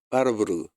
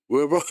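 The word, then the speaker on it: Warburg: 이게 1923년도에 노벨상 바르부르그. 근데 저는 독일에서 공부를 했기 때문에 바르부르그라고 하는데 영국식으로 아니 미국식으로 발음해서 웨버 이렇게 하더라고요.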